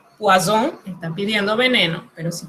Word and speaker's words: poisson: Pero si usted dice poisson, pescado.